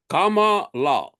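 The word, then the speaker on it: Kamala: say her name now Kama like Kama and La they taught us they teach us everything Kama La her hers try to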